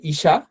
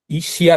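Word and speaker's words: 医者: যেশি এর পরে যদি একটা ছোট ইয়া হয় উচ্চারণ হবেশা। শিয়া হবে না? এটা একটু খেয়াল রাখতে হবে। যে ইশা ইশিয়া না কিন্তু তো এটা ইশা হবে আচ্ছা এরপর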